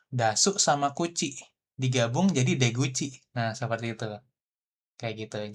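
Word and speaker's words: 出口: Kalian lupa cara bacanya bahwa ini bacanya Deguchi nih.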